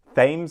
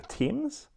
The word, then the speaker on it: Thames: pronounce the cryptid but i said thames instead of the teams oh yeah there was